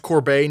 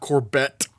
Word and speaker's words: Corbet: have Brady Corbet apparently his last name is pronounced Corbet not corbette as I thought it was uh he is I